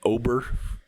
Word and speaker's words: Ober: He will face off against another very good pitcher in their own right, Bailey Ober is how you say his last name.